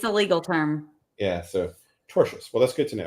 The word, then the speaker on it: tortious: than never tell me oh it's not tortious it's torous torous torous thank it's just one